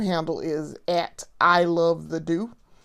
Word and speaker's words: Doux: is I love the do. The do is spelled D O U X.